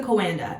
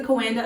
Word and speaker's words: Coanda: Just Google the pronunciation and I was correct. It's the Coanda. It's the Coanda effect.